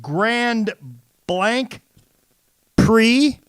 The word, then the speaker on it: Grand Prix: That's Grand Prix, as it's pronounced.